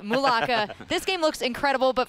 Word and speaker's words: Mulaka: Mulaka.